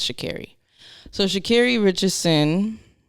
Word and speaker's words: Sha'Carri: last episode i apologize i was saying shikari but it's shakiri so shakiri richardson